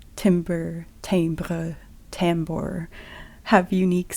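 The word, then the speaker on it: timbre: become aware of the tambers which is how timber in music tends to be pronounced claiming that this is because it's French even though say tber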